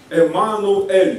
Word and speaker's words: Эммануэль: и на семинарах, что Эммануэль, да, Эммануэль, два слова, Эммануэль, два из двух слов состоящие, но в русском произношении Эммануил, а так Эммануэль, Эммануэль, Эль это понятно,